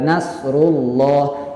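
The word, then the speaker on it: نصر الله: Nah, huruf nun di situ tipis, kemudian huruf shadnya tebal, kemudian huruf ra-nya juga tebal. Nah, kita berikan yang tipisnya, kemudian juga berikan yang tebalnya. Baca nunnya dengan nun yang tipis, kemudian baca juga shadnya dengan shad yang tebal. Jadi nasru, jangan nasru, salah. Tapi nasrullah. Kemudian ada huruf ra berbaris dhammah, ya.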